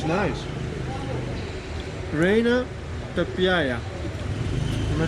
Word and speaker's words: Reina Pepiada: Reina Pepiada.